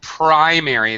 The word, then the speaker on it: primary: a little pronunciation Jose primary it's a pry sound Primary School which by